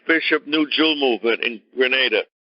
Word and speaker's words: Grenada: Number three, the slogan from the Maurice Bishop New Jewel movement in Grenada. Pronounced Grenada, not Granada. Granada is a place near Spain, near the Gibraltar area. That's not what we're talking about. Grenada.